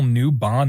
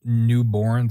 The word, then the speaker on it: Newbon: totally mispronounced Neil's name it's Neil newbon not Neil newborn sorry uh Jennifer English